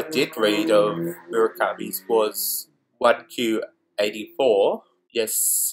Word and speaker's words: 1Q84: It is a play on the title 1984.